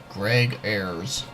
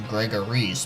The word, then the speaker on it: Greg Ayres: is being played by Greg Ayres or what I called in my other videos was Gregor Reese but yes I finally figured out how to pronounce it now anyways the point